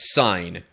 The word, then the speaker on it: Sin: wilderness of sin or perhaps it should be pronounced sign because the footnote here